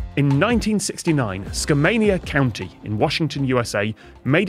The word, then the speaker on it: Skamania: I said Skamania, something like that. It is just Skamania, which just feels like the early 2000s to me.